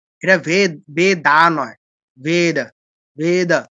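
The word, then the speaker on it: वेद: অনেকে আমরা বুঝি না আমরা ইংলিশে ভি এ দেখে উচ্চারণ করি কি ভেদা একদম ভুল এটাই ভেদ ঠিক আছে ভেদা নয় ভি দিয়ে অন্তস্থ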